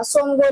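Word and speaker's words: Tsomgo: यहाँ पे टी जो है वो साइलेंट रहेगा, सोमगो लेक।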